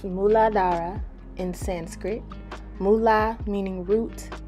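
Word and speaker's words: Muladhara: ahead and keep watching the root chakra is pronounced muladara in sanskrit mula meaning root and adaras meaning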